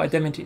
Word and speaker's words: adamantine: Oh, adamantine, that's how you say it, okay.